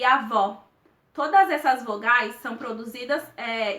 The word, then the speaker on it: avó: de uma maneira fechada a gente percebe nitidamente a diferença entre avó com acento agudo para avô no acento circunflexo uma marcação e aberta ea outra é fechada há uma